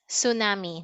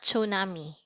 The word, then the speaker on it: tsunami: tornado and tsunami okay it is pronounced as tsunami not tsunami tsunami okay great so now